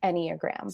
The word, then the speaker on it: Enneagram: So it comes from Latin, ennea and gram. So meaning 9-pointed figure. So as far as I've heard of it from experts, it's Enneagram.